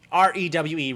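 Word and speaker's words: REWE: how you would even you know i mean r-e-w-e re-we literally i don't know how to like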